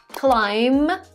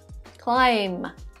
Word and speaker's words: climb: subtle by the way the letter b is also not pronounced when it follows a letter m at the end of the word let me show you some examples climb climb there is no b in the end when we pronounce it